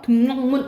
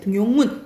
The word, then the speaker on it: 등용문: 니은 음을 첨가하지 않는 게 있는 대표적인 게, 자, 밑줄 그어놓으세요. 6.25, 3.1절, 송별연, 등용문. 이거는 니은 첨가 일어난다, 안 난다? 또 그런 환경이어도 안 난다라고 보시면 돼요. 등용문 이렇게 안 한다 이 말이지.